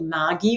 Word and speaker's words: Margie: And I should just mention now, the pronunciation of my name is an Australian pronunciation. It's actually Margie with a hard G.